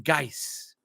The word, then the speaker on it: Geis: name see I don't Jason geis I like that it rhymes with ice and no one's cooler